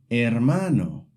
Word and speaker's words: hermano: The important thing to know is the H is always silent. Unlike in English, you never pronounce it. For example, hola means hello. Hotel means hotel. Hermano means brother. See, the H is written, but you don't hear it.